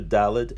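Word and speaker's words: ד: people that were pronounced the letter dalet when it has a de Guiche as a duh and when it doesn't have a de Guiche as a the or a hard th from the were like the word the in English the letter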